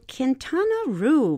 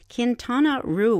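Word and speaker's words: Quintana Roo: bigger basket let's take ourselves now down to kintana Ru Mexico what a delightful name kintana Ru will'll spell it Qi n t a n a second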